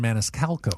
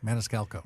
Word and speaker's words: Maniscalco: talked to comedian Sebastian Maniscalco. I always pronounce his name wrong. Maniscalo. That last C that always gets me too.